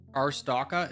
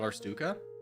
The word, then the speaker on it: Arstotzka: Arstotzka is a fake country from a game called Papers, Please. It's not Arstuka.